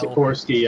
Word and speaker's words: Sikorsky: So Sikorsky, I believe, is the correct way to pronounce yeah, that. Sikorsky. Yeah, I was butchering that.